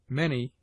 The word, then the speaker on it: many: Many is pronounced as if it were written M-A-N-N-Y.